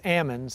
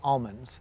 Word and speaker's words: almond: I believe anywhere north of Sacramento says ammons anywhere south of Sacramento says almonds.